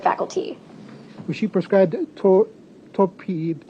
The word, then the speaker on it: topiramate: Was she prescribed tor- topiramate?